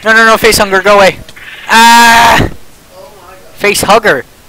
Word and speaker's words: facehugger: face hunger going ah facehugger it's not face hunger we've been saying it wrong all along wait do you die